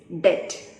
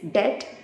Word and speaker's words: debt: for the day is debt it is not debt it is debt b is silent we know uh the